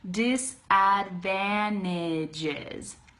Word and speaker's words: disadvantages: this is so cool instead of saying disadvantages I'm saying disadvantages okay that should make it a lot easier disadvantages say it like that